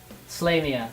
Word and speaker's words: Slayia: Also, I don't want to distract you, but my name is pronounced Slayia. Slayia.